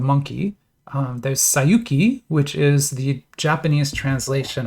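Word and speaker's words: 西遊記: In Japanese, the same set of characters is Sayuki, Sayuki. That's how you pronounce that.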